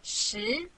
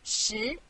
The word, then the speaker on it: 十: This is its syllable, 十. Repeat after me, 十.